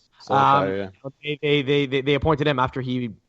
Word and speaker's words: Solskjaer: I'd be a little scared, almost like when Man United kind of appointed Ole Gunnar Solskjaer, whose name I think I just butchered, but Solskjaer, I think it's pronounced. Solskjaer.